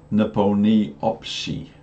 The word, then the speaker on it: Nepomniachtchi: fear versus grandmaster in nepal knee op she which is how the Russians actually pronounce it so that's how I've